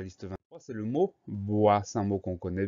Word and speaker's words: bois: Donc, on pense à ce S muet à la fin du mot. Le son OA, tout va bien, ça s'écrit OI.